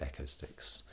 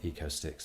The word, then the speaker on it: Echo Sticks: It's actually Echo Sticks, for those who don't know how to pronounce it. Lots of people call it Eco Sticks, but Echo Sticks as in acoustics.